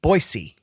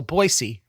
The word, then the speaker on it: Boise: say it wrong so I've been saying Boise wrong my whole life probably so boisey is very belaboring this point Rob says boisey and I should have asked him about this like why I say it wrong or if only people from Boise say boyy but he's actually it's